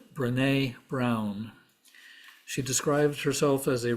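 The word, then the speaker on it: Brené Brown: that's my own loss I believe her name would be pronounced brine Brown she described herself as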